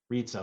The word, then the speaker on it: Rizza: Again, Rizza, the Rizza, like pizza.